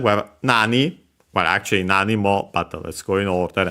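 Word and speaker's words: なに: anime and also memes uh accent on the first motor.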